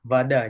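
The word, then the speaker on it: вода: Nah, itu berarti O-nya dibacanya A. Iya, Vada jadinya.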